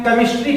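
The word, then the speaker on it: chemistry: सी के बाद देखिए एच आया तो इसे हम केमिस्ट्री नहीं पढ़ते हैं, इसे हम केमिस्ट्री पढ़ते हैं। सी के बाद एच का उच्चारण में साइलेंट मिल गया।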